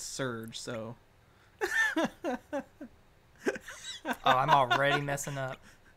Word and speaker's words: Serge: thought of even though his name is spelled like sergey it's you know it's surge so i'm already messing